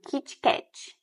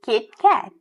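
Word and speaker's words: KitKat: Por exemplo, Kit Cat é a pronúncia do português. A gente não pode fazer isso no inglês, a gente vai dizer Kit Cat, bem curtinho, mas quando tiver um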